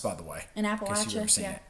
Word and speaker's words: Appalachia: Also, we have people here in Appalachia like the people that are And that is how it's pronounced, by the way. In Appalachia. Appalachia.